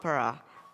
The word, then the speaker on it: Parra: my favorite number also my last name is para which is pronounced like the Shabbat parah it was meant to